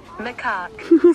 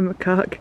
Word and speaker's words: macaque: Marek? Macaque. Still say it wrong. It's a macaque, guys.